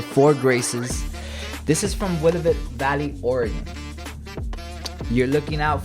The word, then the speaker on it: Willamette: This is from Willamette Valley, Oregon.